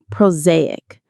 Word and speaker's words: prosaic: Proaic. The stress is on the second syllable. Z.